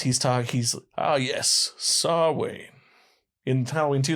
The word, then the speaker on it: Samhain: talk he's oh yes saw wayne entirely too they call it samhain they mispronounce it wow i really did